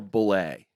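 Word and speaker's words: Bulleit: Is it Bullet or Bullet? It's Bullet.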